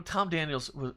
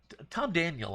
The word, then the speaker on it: Tom Daniel: one too you know Tom Daniels a Tom Daniel I should say I that was a little slip I don't I normally do say it right it is Tom Daniel not Tom Daniels I think the man